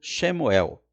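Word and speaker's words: שמואל: esse nome óbvio que em hebraico a pronúncia é diferente é algo como chemuel Samuel já é a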